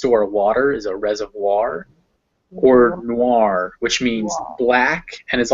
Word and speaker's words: noir: boy or coin um there's one exception to this and that is in french words which will have an o-i-r in them and then it's wa so this gives us word